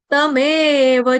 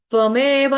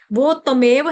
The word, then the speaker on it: तमेव: चाद्यम तमेव तमेव तमेव गलती से यहां पर क्या हो जाता है हमारे साथ हम वो पढ़ते हैं ना त्वमेव माता च पिता त्वमेव बट उसमें क्या है त और आधा व त के अंदर व भी है प आधा त और व त्वमेव यहां पे त्वमेव इसका ध्यान रखेंगे उसको उसके के साथ कनेक्ट करके नहीं पढ़ देना। वो तमेव है।